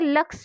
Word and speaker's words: Lux: तो उसने कहा LUX और लक्स को उसने लुक्स पढ़ा। तो लुक्स मतलब उसने उसका उच्चारण गलत किया, उसको पढ़ने में कठिनाई हुई, उसने सही उच्चारण नहीं किया, उसको पढ़ना क्या था लक्स और पढ़ा क्या लुक्स।